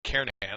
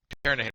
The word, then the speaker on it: Kernighan: We will be using the Kernighan and Ritchie, or Kernighan, I should say, the G is silent, Kernighan and Ritchie C programming language book that you see down there in the right corner of the screen.